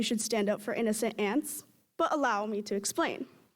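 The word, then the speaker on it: Anse: stand up for innocent ants but allow me to explain ADI Daryl cash Jewel Dewey Dell vardaman and by far the best character in the book A and S E pronounced ants now I'm sure you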